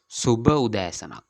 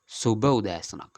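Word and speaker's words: සුභ උදෑසනක්: In single, it is Subha Udayasanak. Subha Udayasanak. The good means in single, it is Subha. The pronunciation also Subha.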